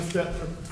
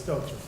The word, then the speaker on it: Stelter: Sincerely, Stephen Stetler, Chief of Police. That's I'm nice. sorry, I'm saying his name wrong, it's Stelter.